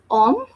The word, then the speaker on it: homme: Now here, this is om. Spelling is HOMME. H is always silent. That's why we are not reading or we are not pronouncing the letter H, and we are just saying om.